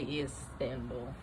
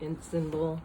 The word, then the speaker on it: Istanbul: I always try to say Istanbul. You know how it's spelled instead of Istanbul, which is how it sounds, like it's I-N, but it's I-S.